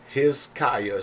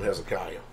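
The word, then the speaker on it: Hizqiyah: My son's name is Hizkiah, spelled H-I-Z. H-I-Z-Q-I-Y-A-H. You'll find it in the scriptures version spelled like that too.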